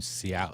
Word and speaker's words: Seau: is it so s-e-a-u if i asked frenchy how to pronounce that i suspect french she'd say so because e-a-u and french is oh wasn't there a football player last name ciao ciao pronounced very awesome